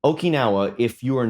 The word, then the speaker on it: Okinawa: for having uh some American solders pronounce it okanawa which was really something Okinawa if you are not